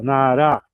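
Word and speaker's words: נערה: O o acento agudo e o o acento tônico, né? Tônica na na última sílaba. Naará.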